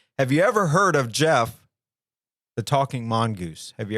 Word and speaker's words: Gef: that a creature named Jeff and it's GF my name Jeff my